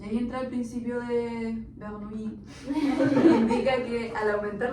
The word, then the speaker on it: Bernoulli: Se pronuncia Bernoulli.